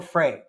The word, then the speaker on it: Fre: know how it's called it's either pronounced free or Fray I've heard it said both ways f it is an